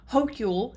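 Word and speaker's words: Hochul: drawing up close to Kathy Hogle I believe that's how her last name is pronounced I've heard hokule and hokul but they were calling her Hogle at the debate so we're gonna go with that um the fact of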